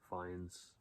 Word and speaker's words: Fiennes: As I say his name right, Fiennes.